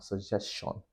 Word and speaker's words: suggestion: It's not suggestion or suggestion. It's suggestion. Suggestion. You end it with a chi sound.